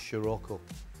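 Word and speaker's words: Scirocco: my first shoo shroo UK it's pronounced shiroko I signed for uh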